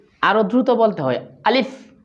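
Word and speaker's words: ألف: প্রথমে আলিফ উচ্চারণ করা শিখবো। আমার সাথে বলুন আলিফ।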